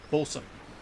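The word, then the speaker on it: boatswain: There's a way to pronounce that. That's like bosun.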